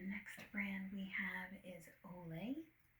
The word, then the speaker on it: Olay: The next brand we have is Olay.